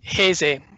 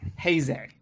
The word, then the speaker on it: Heisei: Don, how do you properly pronounce this? Heisei. Heisei.